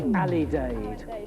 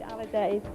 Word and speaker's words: alidade: The hand movement was right, the word was wrong. It's the Alidade. Alidade.